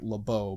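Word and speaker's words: LaBoeuf: ranger named lebe his name is actually like lebeau but he pronounces it labe because he's from texas um the book is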